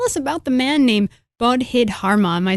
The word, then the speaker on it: Bodhidharma: So tell us about the man named Bodhidharma. Am I saying it right? Yeah, Bodhidharma, yes.